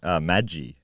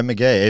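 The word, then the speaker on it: Magie: helped there but um it's spelled m-a-g-i-e which I would have pronounced Maggie yeah same I think I would just uh but anyway McGee even it's way better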